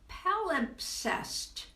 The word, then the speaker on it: palimpsest: Okay, the MP is hard to pronounce. Yes, it is. Palimpsest. MPS. Yeah, all at once. Those three consonants, rare but hard to.